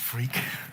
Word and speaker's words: Freke: hi I'm Freak my name really is pronounced freaky and it can get